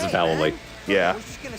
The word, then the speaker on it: Vallely: It's Vallely. Everyone says Vallely, including us, but we're wrong. In Thug, it's Vallely.